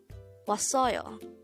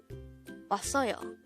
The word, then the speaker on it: 왔어요: This is pronounced as a three-syllable word. The first syllable is was, second syllable is the third syllable is yo. Pronounce it with me. 왔어요. 왔어요.